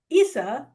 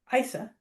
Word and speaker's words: Issa: So when Congressman Daryl Issa Isa, excuse me, uh shouldn't mispronounce his name the way Senator Padilla's